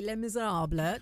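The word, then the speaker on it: Les Misérables: Les Miserables.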